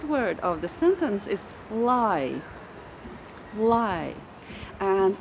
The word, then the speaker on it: lai: So the word once more is lai. Let's try to pronounce it together twice.